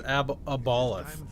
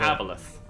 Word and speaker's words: Aboleth: what about him versus Aboloth? A-B-O-L-A-O-T-H? What's that? Aboloth. Aboleth. It's Aboloth, isn't it? Or is it Aboleth? Aboleth. That's how you pronounce that? Even with the O there?